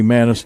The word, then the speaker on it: Manus: Could be Manis. Didn't get a pronunciation on him. I think I when I was checking with coach I said Manus and he said yes sir.